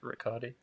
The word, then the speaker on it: Ricciotti: think it's Ricciotti. Ricciotti. Like ricotta, like the cheese.